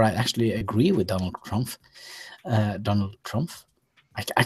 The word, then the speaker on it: Trump: actually agree with Donald Trump. Uh Donald Trump. I I can't say his name. Donald Trump. Trump. Trump. Trump. Yes. Trump. Yes. Yeah. So, the P is a P, not an F.